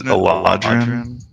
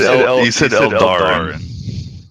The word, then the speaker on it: Eladrin: Well, you said Eldarin. I wasn't sure if you were doing that intentionally or... I got the A and the D switched around there. Okay. So yeah, Eladrin.